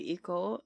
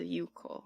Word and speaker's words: Iko: I think also, it's spelled, this lyric is spelled as Iko, but when I listen to the song, it sounds like Yuko. It seems like in songs when they say Iko, they pronounce it as Yuko. Whoops.